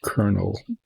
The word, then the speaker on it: colonel: It's pronounced colonel. And I actually read somewhere something in like Wikipedia trying to explain why it is that a word that has no R in it is pronounced colonel.